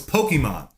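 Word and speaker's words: Pokémon: No, it's Pokemon. Pokemon. Pokemon. Pokemon. Okay. Pokemon. Pokemon. They They couldn't pronounce it because Look at that sun coming right in my head, dude.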